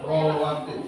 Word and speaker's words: rawatib: Kalau ditulis Latin itu rawatib, tapi bacanya rawatib.